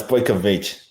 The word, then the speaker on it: Bojkovic: It's close enough. It's Bojkovic. I knew it, and I said it right in my head right before I said it too. But I'm glad you saved me. Because what I would have originally said without any coaching is I would have probably said Bojkovic or something like that.